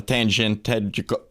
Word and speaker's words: tangential: So, but a solution to that, a tangential. God damn, we can never pronounce that word live on air. Tangential rhymes with prudential.